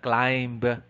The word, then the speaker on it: climb: common mistakes among filipinos it's not climbed no but rather the the phony peter is island climb calm subtle death lamb item number